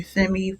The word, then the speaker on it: Femi: time for your complimentary Femi forecast. Okay, some people say Femi, some people say Fem, depending on what mood I'm in. I say it correctly, and then sometimes I don't.